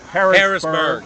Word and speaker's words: Harrisburg: right in pennsylvania how do you say it harrisburg harrisburg thank you i thought it was hot